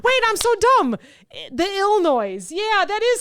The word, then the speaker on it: Illinois: If I can say it correctly, the Illinois Noise Business Playbook. Okay. They should just call it Illinois. Yeah, but that'll piss people off too. Maybe that's how you say it.